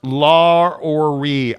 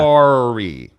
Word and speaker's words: Lauri: It's pronounced Lauri. I speak Finnish, FYI. Say it right, Gonzaga. Wow. It's pronounced Gonzaga. Lauri.